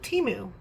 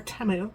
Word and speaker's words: Temu: also helps me with teu or temu if you want to say it properly but I still like teu um speaking of which